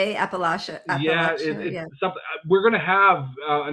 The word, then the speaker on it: Appalachia: from alaska to alapia how do you say that andrew i obviously well that's what we were told but when i was watching the united shades and kamau was there it was uh appalachia that's right appalachia yeah